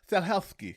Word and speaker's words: Stahelski: The director's name is hold Chad Stahelski. Maybe did I say it right? Stahelski? Stahelski, yeah.